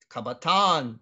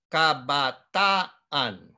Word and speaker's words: kabataan: that's okay all right the double a is not Kabataan no kabbaah on okay and then the